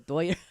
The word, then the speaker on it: Dodgers: It's the Dodgers. It is the Dodgers, but they're the Doyers. The Doyers. Why do you call them that? Pretty much every Hispanic in Southern California pronounces it Doyers.